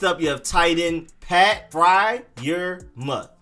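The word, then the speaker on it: Freiermuth: you have titan pat fry your mutt fryer like when you're cooking something on the fryer and then mud pat fry your mud then you have edge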